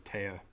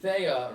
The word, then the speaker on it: Theia: it even a discrepancy whether it was taiya it's spelled th because you know what it was okay so thea right i guess apparently